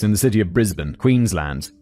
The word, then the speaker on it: Queensland: the city of Brisbane, Queensland. David specifies land, not Lund. Queensland. I feel like that's just my British pronunciation. It' be like I think I could pronounce it Queensland if I want to.